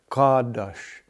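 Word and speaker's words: קדוש: Kadosh, kadosh, nit kadosh, kadosh, ka'ah, the carving with the ah, and then the sh sound at the end.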